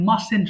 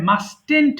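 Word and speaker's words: mustn't: আমি অবশ্যই লিখবো না অনেকে ভুল করে আই মাস্ট্যান্ট বলে আচ্ছা মাঝখানে যে টি আছে এই টি টা উচ্চারণ করতে হবে না সিম্পলি বলবা আই মাসেন্ট আমরা যে খাই এর সঙ্গে এনটি যুক্ত করে বলবা মাসেন্ট মাসেন্ট তাহলেই হবে আমি আবার বলছি খেয়াল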